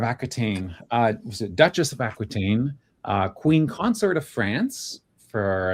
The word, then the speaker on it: Aquitaine: on the Duchy of Aquitaine. Normally, like the French way to pronounce that would be Aquitaine, but I'll just say Aquitaine because most people know it these days.